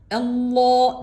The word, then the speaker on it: Allah: gerekir dikkat çekmek amacıyla özellikle Allah derken lafzatullah'ın lamı da çok kalın la diye İyice kalınlaştığı Allah lafzının